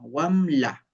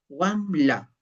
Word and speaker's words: wambra: En el caso de Wambra, en Ancash se diceambra, en Wanuco se diceambra. En Junín la pronunciación es distinta, wamla. Ven, se dan cuenta wamla.